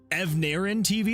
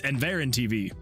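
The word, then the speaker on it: EnverTV: I think it's because I want to pronounce the V before that first N and so I always pronounce it Evarin TV and then I'm like wait nope it's Enver TV.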